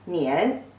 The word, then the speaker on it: 年: The pronunciation is 那一安, 年.